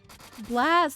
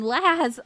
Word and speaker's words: Laz: Blaz, thank you so much for the 10 stream. I mean, Laz. I called you Blaz.